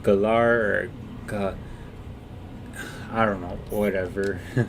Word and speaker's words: Galar: Galar, that's how you say it.